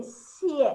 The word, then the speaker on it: 谢: You see, it has got the compound final I and E together. E-A, which we pronounce as ye in Chinese. Ye. So we say xie. It's like X-Y-E, X-Y-E.